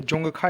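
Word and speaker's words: Dzongkha: सा है, तो देखिए जोंगखा इसका सही उत्तर होगा, लेकिन इंग्लिश में देखिए डी साइलेंट है, तो जोंगखा इसको करेक्ट उत्तर होगा।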